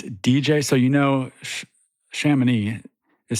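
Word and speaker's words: Chamonix: So, you know, Shaman is spelled C H A M O N IX.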